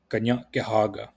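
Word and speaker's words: Kanien'kehá:ka: Kanienkehaka, which is the people of the Flint, otherwise known as the Mohawk people. And this word you pronounce ga nya ge ha ga Kanienkehaka. So one part of this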